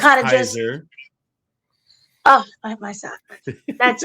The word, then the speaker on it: Caesar: He is Caesar. All hail Caesar. All hail the king. It's pronounced Kaiser.